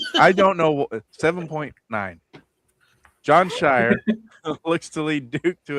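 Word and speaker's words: Scheyer: Shire. I like Shire. We'll go there. Coach? Yeah. John Yeah, Shire? that's John Shire. Oh, yeah, John Shire. Yeah. Shire. I don't know. 7.9. John Shire looks to lead Duke to its third straight.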